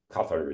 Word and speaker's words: Qatar: Qatar is the right way to say it.